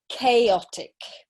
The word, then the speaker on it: chaotic: okay very good so three syllables okay and the pronunciation is chaotic okay chaotic so it's quite a difficult